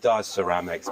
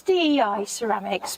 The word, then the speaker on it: DI Ceramics: can hide behind now I've always said D Ceramics but how exactly have you pronounced yourself it's Dei Ceramics because it's my initials yeah okay no cu